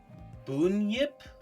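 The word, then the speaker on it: Bunyip: interesting one that uh I believe it's pronounced Boon Yip uh it's an Aboriginal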